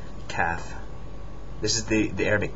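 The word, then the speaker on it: ك: not it's not a c c is a calf calf this is the the Arabic K CF c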